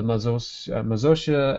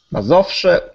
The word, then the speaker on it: Mazowsze: The most famous of the state ensembles were the Mazosia and Slosk. You'll have to help me with the pronunciation. Sorry. Mazowsze and Śląsk.